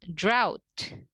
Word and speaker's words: drought: Nah, kita mulai dari yang silent GH terlebih dahulu. Ada drought. Drought.